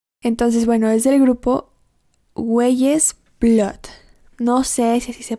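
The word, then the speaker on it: Weyes Blood: Ella es Güeyes Blood.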